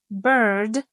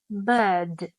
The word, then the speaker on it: bird: like RP received pronunciation, this R is often silent unless it is followed by a vowel. So car sounds more like car, and bird sounds more like bird, bird.